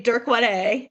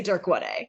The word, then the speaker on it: DYRK1A: Yeah, we all say DYRK1A in our lab.